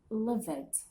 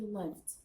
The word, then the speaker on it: lived: of learners who simply pronounce lived as livid, and this is wrong. You can't say livid. Whenever you come across a verb that ends with E, cancel E. E will be silent. So we don't say livid. It will be lived.